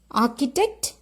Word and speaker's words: architect: who is an architect r is silent okay when you pronounce architect r is silent architect who is an